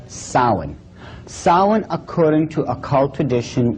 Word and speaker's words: Samhain: as if it's saying samhain or something like that no no no this is properly pronounced in the ancient gaelic as sowing saul according to occult